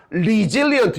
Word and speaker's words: resilient: resilient. 이 단어가 어려운 단어입니다. 별표. resilient예요. resilient.